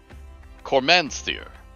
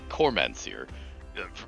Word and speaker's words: Cormanthyr: Yeah, you'll sometimes hear Cormanthyr, sages and so on, they're talking about something they don't know of, they just read. So in the same way that you can mispronounce names, Desbris for debris and so on, that you've just